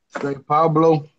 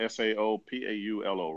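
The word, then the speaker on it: São Paulo: Let me know if I'm pronouncing this right. Do you recommend Rio over Sao Pablo? Okay, Sao So, Paulo. Sao Okay, Paulo. they're talking about Saopaulo, right?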